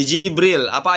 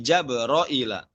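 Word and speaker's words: جبرئيل: Kemudian pada kalimat itu, li Jibril. Apa ayatnya? Ada yang tahu? Di surah Al-Baqarah, man kana aduwwan lillahi wa malaikatihi itu ya, yang di bagian itu. Li Jibrila, namun dibaca bagaimana? Li Jabroila. Li Jabroila.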